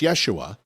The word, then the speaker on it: Yeshua: Yeshua. Okay, so I was right. So it's Yeshua, which I pronounced correctly the first time I said it.